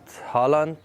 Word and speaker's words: Haaland: to pronounce this name if you're not in no way you can say erling about Holland and if you're in no way you can say our link : there you go